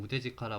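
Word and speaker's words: 腕力: 그래서 네, 그렇고 이거는 우데지카라 완료쿠인데요. 이게 우데지카라라고 읽는다네요. 완료쿠라고는 그 이학 전문 용어에서 사용하는, 일상적으로는 우데지카라라고 읽는다고 하네요.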